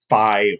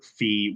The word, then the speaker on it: Fi: probably be phi um phi or fee whatever you want to print however you want to pronounce it i pronounce it phi um i think we'll